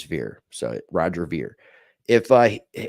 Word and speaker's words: Ver: am I I'm he's he told me how to say his last name and now I'm questioning is if it's a ver or ver it's ver it is ver I was thinking over but it it is ver so Roger ver